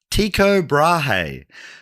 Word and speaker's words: Tycho Brahe: Tiko Brahi. Okay. What's the name? Tiko Brahe.